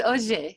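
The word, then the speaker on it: Ohře: And it's Oje, the Oje River.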